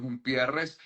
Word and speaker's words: Humpierres: Bueno, Jumpierres, que es una anécdota simpática porque mi apellido se escribe con H en Venezuela, pero no es un apellido con H, Jumpierres es sin H.